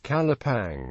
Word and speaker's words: Calapan: Another theory holds that Calapan was originally pronounced as Calapang, which, according to an old Tagalog dictionary, was a synonym for sangop or branch.